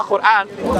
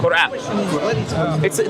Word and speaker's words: Quran: – Quran There is an Arabic letter that will be hard to say, which is ق (Qaf). Quran. It would be hard to say because you don't have it